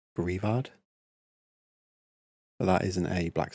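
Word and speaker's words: Greavard: I've seen some people pronounce his name Graveyard. And I guess it could be a play on words, but I wouldn't read it as that. I think it's Grievard.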